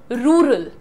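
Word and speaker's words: rural: Okay, how डू यू से इट? र। एक होता है जो तुम अपनी टंग को, देखो ये बहुत बड़ा काम सिखा रही हूं, जो आपकी जबान है इसको थोड़ा पीछे पुल करिए और ऊपर को टर्न करिए, ठीक है? और अब बोलिए र। सो एक होता है रूरल और एक होता है रूरल।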